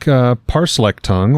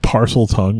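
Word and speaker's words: Parseltongue: parcel tongue, if you're going to say it right.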